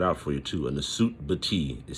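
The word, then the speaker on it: nswt-bity: in the third golden age, they had a Nasut Bati. And let me explain this. A Nasut Bati was a ruler, a king, Let me spell that word out for you too. A Nasut Bati is spelled NSWTBITY.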